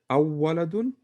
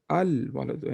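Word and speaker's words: الولد: How do you say? Do you say awwaladun? Al waladun.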